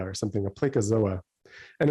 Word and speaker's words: Placozoa: to public definitions something called i think it's pronounced placazoa or something a placozoa and it's only a couple thousand cells he's